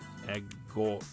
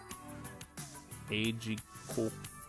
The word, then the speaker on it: Agate: It's pronounced as Agate. Agate.